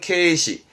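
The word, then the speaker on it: 継嗣: 개사라고 해서 발음은 케이시. 케이시라 하면 개, 즉 후계자를 말하는 거죠.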